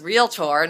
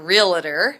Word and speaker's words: Realtor: become a realtor and it is realtor not realtor everybody says that three-syllable word and it's not that word so um just know